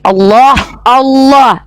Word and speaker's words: Allah: karena dalam bahasa Ibrani Allah itu artinya sumpah serapah. Inilah kenapa kami beda sama kalian. Kalau kami Allah, lamnya tuh kalau ada sama tasydid itu ada 3 tuh. Allah ditafkim bacanya ditebalkan. Allah bukan Allah ya.